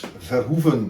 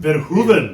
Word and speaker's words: Verhoeven: Today, I'm in Amsterdam, Netherlands on a very blustery, rainy day, and I am with Verhoeven, is that correctly pronounced? Almost. Verhoeven. Verhoeven. Correct Dutch.